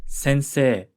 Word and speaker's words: sensei: Tanaka the word for teacher in Japanese is Sensei sensei again in Japanese whenever you see an e i combination you'll usually pronounce it as an elongated s sound sensei